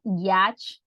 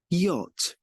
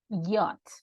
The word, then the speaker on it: yacht: sound is actually uh you actually don't pronounce this as a like we usually do in Spanish right it's it's just like this 220 yacht yacht and then that's this